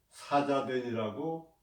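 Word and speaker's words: 夏家店: 하가점은 우리말로 읽은 것이고 요녕성, 중국 요녕성인데 사자된이라고 발음을 합니다.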